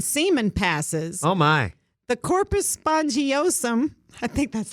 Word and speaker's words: corpus spongiosum: The corpus spongiosum, I think that's how you say it.